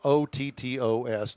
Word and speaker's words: Otto's: out there and support Otto's. We're not real sure what the status is with Tailpipes and Tacos. By the way, that's spelled O-T-T-O-S, not A-U-T-S. Yeah, Otto's. Yeah. Sorry. Odos.